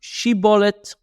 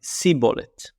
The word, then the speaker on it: Shibboleth: A Shibboleth is a plant in Hebrew, and one of them pronounced it Shibboleth and one of them pronounced it Siboleth.